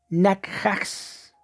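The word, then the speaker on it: נחש: Bueno, la palabra original se escribe de esta forma y se lee nakhax.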